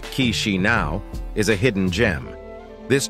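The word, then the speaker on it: Chișinău: Few people are aware of its location in Europe, but Moldova, with its capital city Chisinau, pronounced Chisinau, is a hidden gem.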